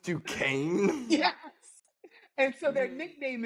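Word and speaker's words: Duquesne: know it's pronounced Duan the S is it's pronounced Duane yes and so their nickname is the dookies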